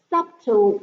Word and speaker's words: subtle: on account of the subtle working of his inmost nature. Subtle. Let's see what subtle is. Subtle, 微妙的。Subtle working, subtle. No 不发音的 subtle, 微妙的。We already learned it.